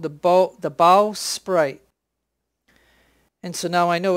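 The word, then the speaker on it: bowsprit: but Rusty told me this is called the bow sprite.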